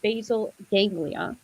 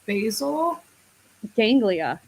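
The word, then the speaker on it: basal ganglia: Now from a neuroscience standpoint, habits live in a part of the brain called the basil ganglia.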